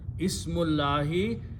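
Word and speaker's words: اسمِ اللهِ: Now Qari will recite together and he will not read this alif in between, you have to leave it there. Okay? So the word became Ismullahi. Full word now is Ismullahi.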